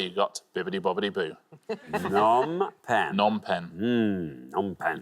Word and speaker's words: Phnom Penh: Phnom Penh or Phnom Penh. Nom pen. Nom. It's a fairly silent P, I think.